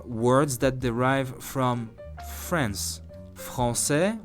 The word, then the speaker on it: Français: Français, which I hope you know what it means, French, is written with an A right after the C, yet we still want the C to sound like S, otherwise we wouldn't recognize France in it.